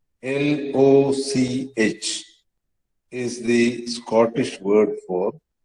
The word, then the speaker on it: loch: Similarly, H, L-O-C-H, is the Scottish word for lake, L-A-K-E. And they still pronounce it as loch. Okay, that guttural sound that you just heard.